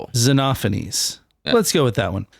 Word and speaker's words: Xenophanes: Zenophanes. Usually it's a long e and like a shortened O. Zenophanes.